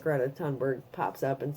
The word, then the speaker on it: Thunberg: Yeah, by the way, the rationality rules did in fact go ahead and cemented that, yes, it is Thunberg. The correct pronunciation, Thunberg.